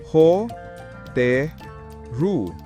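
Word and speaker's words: ホテル: Hotel. Ho, te, ru. Katumbas 3 hak.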